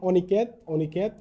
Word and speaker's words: অনিকেত: আছে সেটি হচ্ছে নেতিবাচক নেতিবাচক বা না অর্থে অ বা অন এবং অসহায় বা সহিত অর্থে দন্তস যুক্ত হলে অ এর উচ্চারণ অবৃত্ত থাকে যেমন অনিকেত অবিচার অবিচার আশা করি বুঝতে পেরেছ